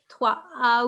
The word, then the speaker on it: trois: We say trois. We say trois. We say voice note, right? How we say voice? We say wa, is. Okay? So take that wa from that and say trois.